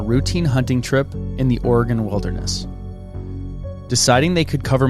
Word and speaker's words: Oregon: It's Oregon, right? Oregon, like an organ.